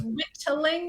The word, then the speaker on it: whittling: Yeah, just the way that he says it with the D's, whittling. Okay. Because I was like, oh, I have never heard that. Yeah. Because he pronounced it with the D's rather than the T's.